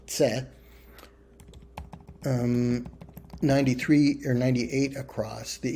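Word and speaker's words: Ц: And Cyrillic letter pronounced like the C, the double Z of pizza, that is tse.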